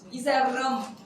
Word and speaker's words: 이새롬: SR: She says all three syllables very clearly JW: Lee Saerom! Lee Sae~rrom!